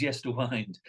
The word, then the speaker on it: Yesterwynde: well but it is yes to wind but um wind can be the winding of a clock as well it can be the